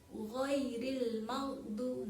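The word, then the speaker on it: غير المغضوب: Siratal ladzina an'amta alaihim ghairil maghdu. Nah, di sini perhatikan huruf gha. Nah, huruf gha itu keluarnya dari tenggorokan. Gha. Ghairil maghdu. Nah, bukan maghdu, bukan ya. Yang betul adalah ghairil maghdu.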